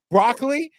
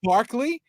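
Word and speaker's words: Barclay: fact that remember when Picard um mispronounced um broccoli and his name is Barkley but he called him broccoli and then when Riker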